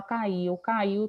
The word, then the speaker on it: caiu: E caiu é uma palavra que só possui, na verdade, 2 sílabas. Caiu, caiu. O iu é tudo junto.